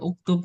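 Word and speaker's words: اكتب: Hamzah wasol itu kalau ketemu huruf diwasolkan itu nggak kebaca alifnya, nggak kebaca alifnya. Kalau dalam mutajwid juga kurang lebih ada seperti itu. Nah, jadi bacanya uktub karena di sininya huruf di tengahnya juga domah.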